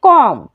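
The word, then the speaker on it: comb: के बाद आया है सेम आप यहां पे देख सकते हैं कॉम यहां पर भी बी जो है एम के बाद आया है तो बी को नहीं पढ़ पढ़ेंगे बी हो जाएगा साइलेंट तो क्या पढ़ेंगे कॉम डम यहां पर भी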